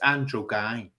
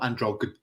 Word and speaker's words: Andrew Guy: couldn't even mention it's look it's andrew guy not androg i mean if he